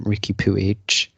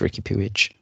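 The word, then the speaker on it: Riqui Puig: pewige which then made yes that's the pronunciation of it yeah i mean i've been doing it wrong this whole time yes it's ricky pewige exactly sounds like a much cooler player so that left them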